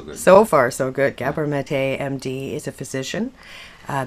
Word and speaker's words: Gabor Maté: Gabor Maté, MD, is a physician, a best-selling author whose books have been published in nearly 20 languages worldwide.